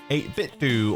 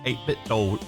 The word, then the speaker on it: 8BitDo: Nintendo 64 mod kit by 8bit duo or 8bit doll. Like it doesn't matter which way you pronounce it. I mean, I prefer do.